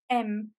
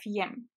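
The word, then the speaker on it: եմ: is the fact that even though the first letter would be usually pronounced year as in yes or Yerevan it's in this particular case the word to be is only pronounced as M instead of Y M one last thing to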